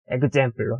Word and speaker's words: ekzemplo: 뭐 예를 들어 example로 예 예시 example로 example로 example로라고 안 하고 example로라고 합니다.